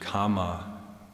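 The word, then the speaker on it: kāma: sensuality as I mentioned Kama with a long a in uh in Pali and so the renunciation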